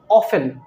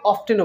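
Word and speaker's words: often: pronunciation থাকতে পারে যেমন একটা ওয়ার্ড খুবই কমন অফেন আবার অনেকে এটাকে অফটেনও বলেন আপনি ভালো করে রিসার্চ করে দেখবেন দুটি কিন্তু কারেক্ট আপনি অফটেনও বলতে পারবেন অফেনও বলতে পারবেন একসেন্টটা হচ্ছে গিয়ে অঞ্চল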